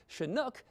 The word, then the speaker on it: Chinook: across the Rocky Mountains pronounced as shinook to described Downs slope